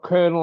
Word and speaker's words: colonel: You've got kernel as in military, you've got kernel as in popcorn kernels. They spell hmm completely different. And But to me, pronounced exactly the well, same.